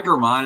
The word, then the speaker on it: German: call yesterday and the person was like hi gmon and I was like whoa how do you know how to pronounce my name correctly and he was like